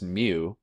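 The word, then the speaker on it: μ: here we don't have in our alphabet it's pronounced mu but you would call it like micro like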